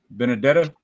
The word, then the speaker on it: Benedetta: talk about that one but it's uh uh Ben andetta or how you say it like this one oh benedetta yeah I was I've never been a big